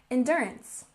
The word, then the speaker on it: endurance: And endurance. Stress the first syllable. Endurance, endurance.